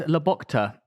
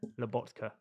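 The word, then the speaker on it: Lobotka: Is Laboka better than Palmer? Labokka. What? What did I say? Laboka. How do you say his name? Labotka.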